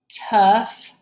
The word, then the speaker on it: tough: these words here okay we have words here that have GH at the end of the word and they're going to make that F sound okay so this word